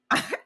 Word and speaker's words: LA: it's just two letters. All I It's hear just is the two letters, not, we pronounce it like a word. She's like, no, these are initials. L.A. Mm-hmm. And I'm like, well, technically, you're right. We are wrong. We just LA, like one word.